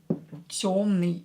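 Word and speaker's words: тёмный: Темный. Yo is always stressed in a word, so it will be stressed.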